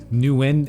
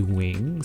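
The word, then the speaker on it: Nguyen: full face game so my name is andy newin in english but really the way you pronounce it in vietnamese is andy wing so it almost sounds like wing but i said that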